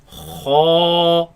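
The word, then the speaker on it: خ: Kha, kha, kha, kha, kha, kha, kha. kha. Now this letter comes from the top part of the throat.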